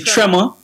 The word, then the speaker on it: Trmor: So, it's actually Trema. So, um Kashima got it right when she pronounced it. Yeah, it was it's Tremor.